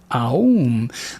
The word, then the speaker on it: Aum: Master Samael says that when we're singing the mantra Aum, that we should pronounce it Aum. Because when we use the letter A, that it allows for the vibration of the thymus gland.